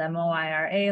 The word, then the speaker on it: Moira: I'm Miri. If you see my name spelled, it's spelled M-O-I-R-A like Moira, but it's pronounced Miri.